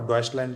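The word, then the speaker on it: Deutschland: लेते थे, जिसका नाम है AfD, अल्टरनेटिव फॉर डॉइचलैंड, जो उसका जो रियल प्रोनाउंस ये है।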